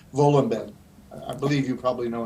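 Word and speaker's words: Wohlleben: I think you would pronounce it Volenben.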